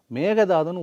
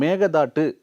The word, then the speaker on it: மேகதாது: மேகதாதுன்னு ஒழுங்காக ப்ரொனவுன்ஸ் பண்ண சொல்லுங்கள் சார் அவரை. நீங்கள் அவர் பேட்டியெல்லாம் பாருங்களேன், மேகதாட்டு அப்படின்னு என்ன பண்ண முடியும், மேகேதாட்டு அப்படின்னு ஒழுங்காக ப்ரொனவுன்ஸ் பண்ணக்கூட தெரியாது அவரால்.